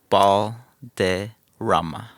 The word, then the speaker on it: Balderramma: Balderramma. Balderramma. There it is. Okay, I had it right. I didn't want to butcher it. You can roll your R's too if you want.